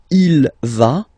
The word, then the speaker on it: va: she, okay, and then you get the va form. Basically you pronounce it like for the tu because you don't pronounce the final S, okay, il va, elle va, okay, je vais, tu vas, il va, elle va.